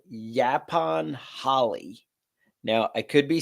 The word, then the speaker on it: yaupon: producing and kicks ass, and it is called Yapon holly. Now, I could be saying it wrong. It's Yaupon holly.